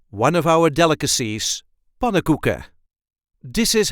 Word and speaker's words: pannenkoeken: The emphasis is on the first syllable. Pannenkoeken. Pan-NEN-KOE-KEN. Pannenkoeken. And as you can hear, I did not really pronounce the N's in the first part. So we generally just say pannenkoeken. So we did not pronounce the third N and the fourth N.